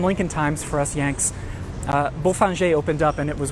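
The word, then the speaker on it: Bofinger: Again, don't come here and try to pronounce this Bowfinger. The locals probably won't know what you mean. Beaufinger was actually the name of an early owner.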